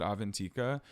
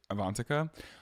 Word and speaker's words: Avantika: wrong last week I also said avant's name wrong I said avantika she played Karen and Mean Girls her name is avantica also the girl who